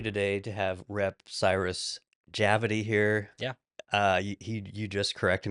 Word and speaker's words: Javadi: It's like rhyming with gravity. Yeah, Javadi, gravity, Yeah.